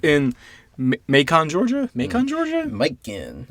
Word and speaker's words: Macon: Macon. I always pronounce it Macon. Macon? Like bacon.